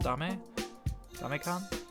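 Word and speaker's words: Demae-can: The WeLink team resurrected a food delivery app on the Wii a little while ago, called, I think it's pronounced Dame-kan.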